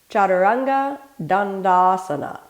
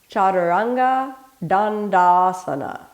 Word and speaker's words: chaturanga dandasana: the whole body let's start off with a pronunciation repeat after me chaturanga dandasana chaturanga dandasana chaturanga dandasana chaturanga four-pointed dandasana staff pose in asanga yoga